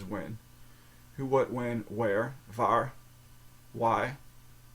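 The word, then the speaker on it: waar: very close how do you say where uh VAR VAR is where VAR okay so who is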